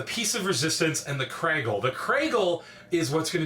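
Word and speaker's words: Kragle: So it's pronounced Craggle. You see that, and it's like, oh and my the piece of god.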